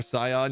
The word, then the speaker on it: scion: Soft C in your scion, your majesty.